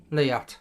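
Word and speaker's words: Leatt: And how do you pronounce that? Is that Liat? Liat.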